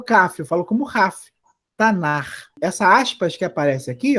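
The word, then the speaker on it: Tanakh: E a sigla eu leio Tanar. Tanar. Tem muita gente que lê errado e fala Tanak. Tá errado, Tanak, tá? A pronúncia correta da sigla é Tanar.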